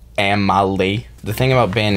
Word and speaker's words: Amely: band so our band name is amily it's pronounced Amal the thing about band names is you don't